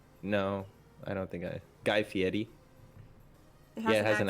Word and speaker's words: Fieri: No, I don't think Guy Fieri. It has an accent. Fieri. Fieri? You gotta roll the R. What R? There is no R. There is an R.